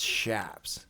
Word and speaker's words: chaps: there's so wait the chaps can't hold it in no it's not chaps it's shaps oh is it really like sh no it's spelled CH h a PS but it's said shaps but it's yeah it's like